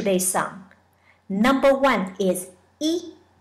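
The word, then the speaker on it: 一: Number one is E. The Y is silent. Just pronounce E. Smile as you say it. You can think of later. E.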